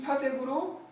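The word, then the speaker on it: 파섹: 여기 PC라고 쓰고요. 파색이라고 읽어요. 파색.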